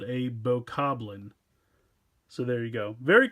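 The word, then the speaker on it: Bokoblin: So, first we'll go with the BoBoGlin first. All right, so I think I just called this thing a BoBoGlin or something. I believe it's pronounced BoCobbling. I always want to say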